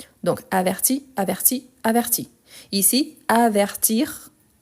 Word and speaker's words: avertir: t donc il avertit ici on dit avertir donc j'entends le r à la fin ici averti j'entend le i averti averti donc ici c'est